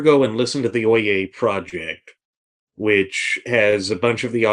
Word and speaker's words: Oyez: And I really do suggest that if you have the time to go look up the Oye Project, that's spelled Oyez, and just listen to some of these arguments.